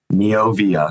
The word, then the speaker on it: Neovia: Noia.